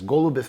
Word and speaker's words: Goloubev: It's pronounced as Goloubev, but anyhow, so everyone could know where to find me.